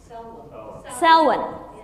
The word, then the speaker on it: Samhain: It's a pagan tradition called Samhain. Thank you for the correct pronunciation. How do you pronounce it? Selwyn. But there's no L in it. Selwyn. It's like Selwyn.